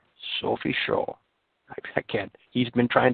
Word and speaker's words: Sophie Scholl: Sophie, and pronounce her name right, Jörg, would you? Sophie Scholl. Sophie Scholl.